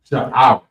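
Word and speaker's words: שעורה: So the first one is barley, and it's pronounced sha'ar. It's spelled SHAIRAH.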